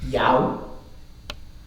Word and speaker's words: 有: This is the Cantonese pronunciation. 趙州和尚因爭問，九此還有佛性也無，周云無。 So, yao, mo.